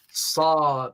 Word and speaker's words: Sad: Sad. It's spelled sad, but it's actually the transliteration of the letter Sad, one of that Arabic letters.